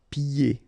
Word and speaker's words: pied: And then when you get this combination here, it's yé, pied. Okay, so you don't hear the D.